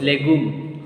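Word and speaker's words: légume: Legume.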